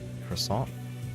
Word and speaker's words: croissant: After enjoying the croissant, Croissant? Croissant. It's croissant. Croissant. You can't pronounce the T, that's the main part.